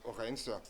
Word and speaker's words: Huygens: Vous connaissez déjà Huygens qui se prononce Orens.